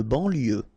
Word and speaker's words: banlieue: De banlieue, okay, final E not pronounced, so I-E-U, I-E, L, lieu, banlieue, de banlieue.